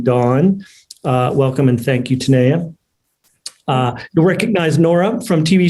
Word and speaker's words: Tanaya: Is that how you pronounce it? Tanaya. Tanaya?